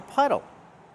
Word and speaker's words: puddle: Use the short uh sound like cup and up. It's relaxed and closed. Uh puh puh puddle.